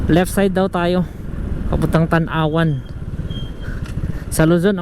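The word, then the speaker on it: Tanauan: So left side daw tayo papuntang Tanawan sa Luzon. Ang bigkas niyan eh Tanawan. Tanawan, Batangas. Dito Tanawan daw.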